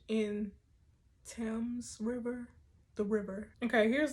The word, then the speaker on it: Thames: is the the thames you don't pronounce the h in tim's river the river okay